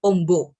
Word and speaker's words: amba: Misalnya, kata ambah pengucapannya itu ombo atau itu artinya lebar.